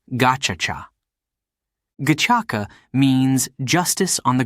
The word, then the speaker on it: Gacaca: It turned to an old tradition called Gacaca, pronounced Gachacha.